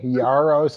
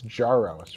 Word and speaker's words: Jaros: So you've been softening the J, Yaros, and it's Jaros, right?